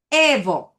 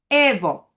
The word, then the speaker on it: evo: So say it with me. Evo. Stress the first syllable. Evo. And then keep it light and friendly.